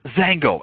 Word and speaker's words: XANGO: Now, when you get XANGO, you take it from xanthones, which is spelled beginning with an XAN. Then they took the middle part of mangosteen and took out the GO, and you get this really kind of energetic word, XANGO.